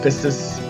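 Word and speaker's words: πίστις: Faith is in the Greek is pronounced pistis.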